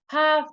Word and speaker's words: half: will never change but usually the l is silent before the f just like half just like cough but uh there's something